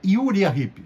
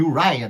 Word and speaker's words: Uriah Heep: para exemplo u hip durante muito tempo eu achava que o nome dessa banda era yuria hip recentemente eu descobri que a pronúncia certa é uraya mas Há controvérsias assim como eu falei